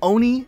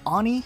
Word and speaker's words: Oni: all this is actually a puma this is pronounced Oni not Ani or oh and I and the planet in